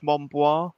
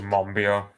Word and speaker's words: Monbiot: Is it George Monbois? I don't know how you pronounce his surname. George Monbiot. Monbiot.